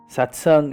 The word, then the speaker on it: satsang: a Sanskrit word for it it's called SATs satsang has two parts sat pronounced sat and S pronounced just like the